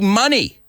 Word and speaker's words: Money: Today's Name That Lyric, Eddie Money, which rhymes with honey, and his song Take Me Home Tonight, where we heard that what you doing.